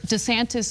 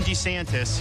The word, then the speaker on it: DeSantis: So the problem lies in whether DeSantis is pronounced DeSantis or DeSantis.